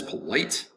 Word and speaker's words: polite: is polite polite polite polite is two syllables polite the accent is going to be over the second syllable light polite polite the t disappears somewhat into the mouth you don't say polite you can say polite but in american english we the tea will somewhat disappear polite polite it's very polite